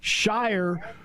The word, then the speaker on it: Shire: And then there's Shire, whose name rhymes with choir because he's the choir guy of the group.